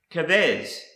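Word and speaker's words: כבש: The next word I want to show you is pronounced kavez, and it's a lamb, sheep, or a young ram. Again, it is the word kavez.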